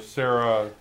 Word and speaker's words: Serra: Terror to the Serra. It rhymes.